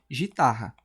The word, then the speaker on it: guitarra: Então eu sei, eu aprendi que GU representa um só som, porque guitarra ela é pronunciada como se fosse gitarra, porque u ninguém nem ninguém nem fala o guitarra, não é guitarra, é guitarra.